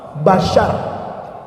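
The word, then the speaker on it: بشر: Basyar. Bukan ikan shad. Syin basyar.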